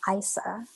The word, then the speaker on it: Isa: more thing one more thing just i actually pronounced my name isa oh my god yeah i did i was